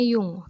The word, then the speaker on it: Jung: g Itu Gustav ya ini tulisannya Jung tapi dibacanya Yung oke di sini eh